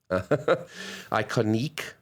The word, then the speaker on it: Iconique: folks at iconic brands iconic spelt with a q-u-e iconique i think it's nice to like emphasize the end of it iconique brands so michelle